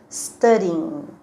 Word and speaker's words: studying: pronuncia a gente pronuncia staring não está ninguém né esse g não pronuncia valeu vamos formar outra